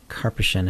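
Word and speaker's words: Karpyshyn: And I believe it's pronounced Karpishan if I remember correctly from the audio books.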